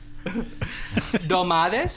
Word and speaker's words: Dolmades: Dolmades, am I pronouncing that right?